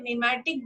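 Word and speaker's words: pneumatic: उसे हम कहते हैं निमैटिक बोन। पी से स्टार्ट होगा स्पेलिंग बच्चों, उसे हम कहते हैं निमैटिक बोन।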